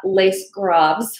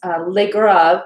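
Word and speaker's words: Les Graves: it's called legrave um it's not lace grabs or lace grapes lake rav is how it's uh pronounced here and um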